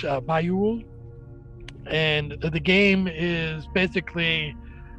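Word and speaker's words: Bajoule: It's not something you recognize, but now that you think of it, it's spelled differently than it sounds. It's a B-A-J-O-U-L-E, but it's Bayul.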